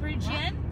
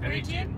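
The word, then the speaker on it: Peregian: was called Perigian Beach, which sounds like Legian Beach in Bali. How do you say it? Perigian? Perigian.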